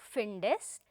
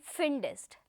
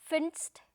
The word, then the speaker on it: findest: Dear friends, please remember that the extra E that you see after D, alphabet D, it has been added so that the pronunciation becomes easier. Just see, if there is no E there, it will be difficult for us to pronounce this particular word. Finst, it doesn't really goes that smooth, no? So, in order to make the pronunciation easy going, an extra E is added there.